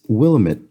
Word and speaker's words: Willamette: mess this up probably he says as they say on all the t-shirts sold there it's willamette damn it so what is that